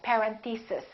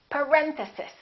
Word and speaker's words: parenthesis: mistake on this one a lot of them say something like parent thesis and it's actually the second syllable its parent sis parenthesis next one these can